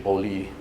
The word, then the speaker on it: Beaulieu: Yeah, in the French pronunciation, Beaulieu.